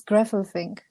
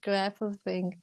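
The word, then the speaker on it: Gräfelfing: It's Grapefruit. Okay, yeah, it's hard for Oh, an American. sorry. It's the A with the dots is like so it's like Grapefruit.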